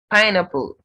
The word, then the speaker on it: pineapple: Pineapple. The first syllable of this word is stressed.